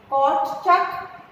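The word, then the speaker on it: Kortschak: कॉर्टचक, court S silent है, कॉर्टचक, heart और बर, ये तीनों साइंटिस्ट ने गन्ने के ऊपर रिसर्च किया।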